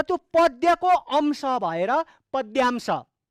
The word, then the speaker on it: पद्यांश: त्यो पद्यको अंश भएर पद्यांश। गलत उच्चारण गर्नु हुँदैन त्यसको, पद्यांश, द खुट्टा काटेको द, यो पद्यांश।